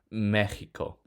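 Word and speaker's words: México: Mexico ends with a vowel, so the stress should fall on the chi, but it doesn't. It falls on the me, so we put accent mark over the e.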